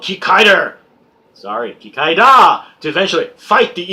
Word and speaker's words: Kikaida: In Japan, it's pronounced Kikaida, because is it katakana or hiragana? Wow, I just lost all my Japanese cred. Anyway, it's da at the end, not der. That's the Americanization of the pronunciation.